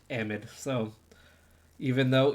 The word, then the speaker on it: amide: Yes, this is an amide. Pronounced amide. So even though it's so nice to say amide, it is technically pronounced amide.